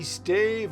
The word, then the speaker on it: stave: A stave or stav church, I've heard it pronounced both ways, is a medieval wooden Christian church building once common in northwestern Europe.